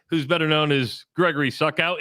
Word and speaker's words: Suckow: So I reached out to Hawkeye Elvis yesterday, who's better known as Gregory Suckow. Am I saying your last name right, Suckow? Succo. Succo, okay.